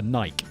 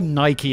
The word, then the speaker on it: Nike: pretty sweet deal for Nike or Nike if you're American and you want to pronounce it properly fine I have to address